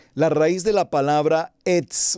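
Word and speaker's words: עץ: hebreo, se lo voy a deletrear, es el Etz. El Etz es el árbol. El Etz, E-T-S, así se escribe árbol en hebreo.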